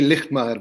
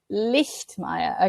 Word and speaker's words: Lijtmaer: It's actually Lijtmaer, but close enough. Lijtmaer.